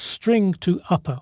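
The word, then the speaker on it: strtoupper: a rather unpronounceable name stir to upper it makes a bit more sense when you realize that the STR at the beginning stands for string so it's string to upper or string to uppercase i'll call it string to upper to make it easier to pronounce so to convert city to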